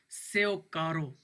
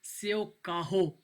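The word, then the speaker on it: seu carro: Example देखें, your कार सेव कारो, कारो आर जो है एच की आवाज़ निकालेगा, सेव काहो पढ़ेंगे इसको पुर्तगीज़ में।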